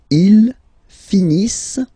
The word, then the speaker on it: finissent: Ils finissent. So remember, as usual, when we've got the verbs E and T not pronounced.